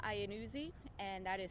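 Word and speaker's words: Iannuzzi: that um so my name is Lieutenant ianuzi and that is spelled last name is ianuzi i a n n u z zi and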